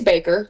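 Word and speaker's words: Bakker: It's Baker, Yep.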